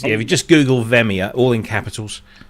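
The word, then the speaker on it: Via: No, it's Well, you pronounce it right. It's v i a. Veia.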